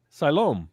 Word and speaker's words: Siloam: altini can give it a shot s-i-l-o-m l-s-s-i-l-o siloam well there you go so anyway you're asking